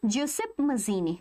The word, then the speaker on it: Giuseppe Mazzini: Giuseppe it is pronounced basically Giuseppe Mazzini.